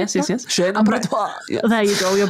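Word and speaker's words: chaîne opératoire: Chain abattoir.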